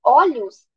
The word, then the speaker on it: olhos: tem um timber fechado quando a gente fala olhos para se referir a muitos olhos o ó tá num timbre eh aberto porque o timbre da